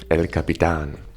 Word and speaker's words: El Capitan: And there's no other way of pronouncing it than El Capitan.